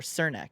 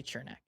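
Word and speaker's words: Černák: and last year on Chernak's deal, or Cernak. I don't know how to say it. I say Chernak. That's how I'm gonna say I it. say Chernak too. I've heard both. I've heard a lot of Cernak, and I don't like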